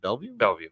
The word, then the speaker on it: Bellevue: How do we pronounce it? Bellevue? Bellevue Ave, yeah.